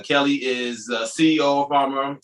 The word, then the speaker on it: Fawma: right here and she is the ceo of farmer and i'm not saying it right uh she told me earlier i'm gonna mispronounce it because it's spelled f-a-w-m-a so this f-a-w-m-a dot-com and farmer follow-up you've got it see natasha's got it